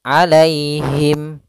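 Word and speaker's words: عليهم: lafal Alaihi alai itu ada Ya Sukun didahulu dengan fathah maka di sini kita namakan dengan bacaan Lin yaitu cara membacanya dengan bacaan yang lembut alaihim Lai alaihim kemudian padafal himim ketika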